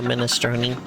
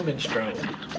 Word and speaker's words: minestrone: But Biss swears is just Mario Minestrone. There's no E. Yeah, that is how it pronounces it, right? Like, No, it says Mario Minestrone. I don't hear the E part.